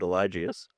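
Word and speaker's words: Eligius: It's called Elgus. Is that correct? Um, I think everyone pronounces it differently. I pronounce it Elijius.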